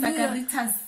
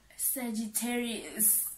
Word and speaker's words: Sagittarius: Sagaritas. Sagaritas. Firstly, Saragas. What is this? How do you say it? Sagittarius.